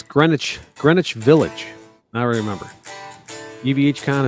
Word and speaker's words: Greenwich: EVHCon is in Greenwich Village, and every time I see people type it in the chat, and people pronounce it Greenwich. Greenwich. Yeah, sandwich or something.